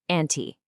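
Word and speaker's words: أنتِ: You say anti. See that little e sound?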